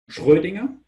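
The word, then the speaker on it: Schrödinger: ideas Heisenberg and pudding I pronounce the names of both in German because they were German guys Schrodinger and Heisenberg yeah Heisenberg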